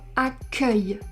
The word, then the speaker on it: accueil: Mais il existe aussi le mot accueil où ici on a un E ouvert. Accueil. Parce que c'est la dernière syllabe du mot. Accueil, ouvert. Accueillir, fermé.